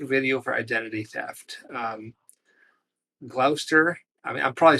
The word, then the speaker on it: Gloucester: Um, Glouester. I mean, I'm probably saying it wrong. Glouester Prison. Glouester Prison.